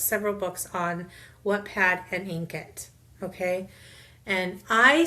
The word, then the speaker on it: Inkitt: books on Wattpad and Inkit. Okay, and I say Inkit because INKITT. Ink, like ink it, write it is what I'll think of.